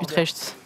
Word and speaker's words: Utrecht: Zulux, est-ce que tu fais l'YXCS Utrecht?